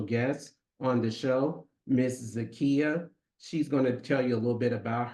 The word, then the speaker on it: Zakkiyyah: I pronounce it it's okay so just like if you think of the store IKEA put a z in front of okay zaka okay